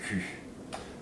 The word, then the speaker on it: cul: With the pronunciation, the OU sound and the U sound, the way you say ass in French is cu. Okay. Which is different than cou.